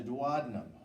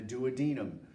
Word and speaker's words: duodenum: intestine is called the duodenum or the duodenum either one of those both of those is acceptable as far as the